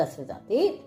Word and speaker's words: Dasaratha: है राम सन ऑफ़ दशरथ राम की बेटे है दशरथ दे ठीक है इंग्लिश हमेशा आखिर ए लगा है सु प्रोनाउंस भी करना पदा है ठीक है रामा सन ऑफ दशरथा ठीक है आप ये